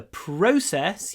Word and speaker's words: process: It will take a week to process your order. Здесь у нас ударение на O. Pro плюс w. Process. Process. И вот р можно тянуть. Process. Не говорите про.